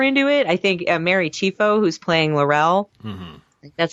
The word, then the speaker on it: Chieffo: I think Mary Chieffo, who's playing Laurel, that's how you say her name.